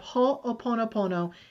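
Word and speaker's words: Hoʻoponopono: any of your listeners you can look up ho oponopono and read the whole story about it can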